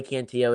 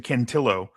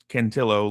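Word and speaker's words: Cantillo: It's actually Canillo Italian, not Hispanic. Uh it's Centillo like tortillini, not Kentio like tortilla.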